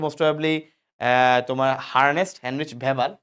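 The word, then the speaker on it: Weber: হ্যাঁ, বিজ্ঞানীর নাম হচ্ছে মোস্ট প্রবাবলি তোমার হার্নেস্ট হেনরিচ ভেবার, তো অনেক ভেবার অনেকে ওয়েবার বলে উচ্চারণ করতে গিয়ে। কোনো সমস্যা নেই, তোমাদের বইয়ে ভেবাল লিখছে। আসলে ওয়েবার বললে ভালো।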